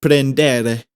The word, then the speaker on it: prendere: The R's are supposed to be solid. They're supposed to sound like D's. So in prendere, it's not prendere, or maybe in Spanish it's prendere. In Italian it's prendere.